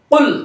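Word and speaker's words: قل: কুল বড় কফ দিয়ে করতে হবে কিন্তু উচ্চারণ। বড় কফ ছাড়া আপনি ছোট কফ দিয়ে উচ্চারণ করলেন তো ধরা খেয়ে গেলেন।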